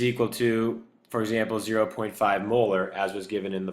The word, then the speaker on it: molar: We pronounce this molar, like your teeth, first of all.